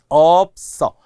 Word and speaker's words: 없어: 없어. 이것도 장음이어야 돼요. 업은 100% 장음이 나는 단어거든요.